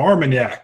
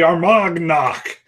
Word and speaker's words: Armagnac: oon Faircloth got some Armagnac that's the first time I pronounced that correctly in like a month and a half that's usually our mug knock it's like some kind